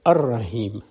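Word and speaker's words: الرحيم: l goes silent similarly when you add al to raheem the al-rahim is pronounced as ar-rahim the l goes silent so if allah the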